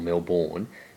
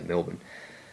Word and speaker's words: Melbourne: I remember when I was in Melbourne or Milbourne if you weren't pronounced like that something Australia we just say Melbourne last year I remember I was walking down